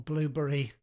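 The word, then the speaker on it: Blubrry: And the feed is constructed by the blubbery or blueberry. Um I like to call it blubbery. Um if they wanted it pronounced blueberry, they should have put all the vowels in, shouldn't they?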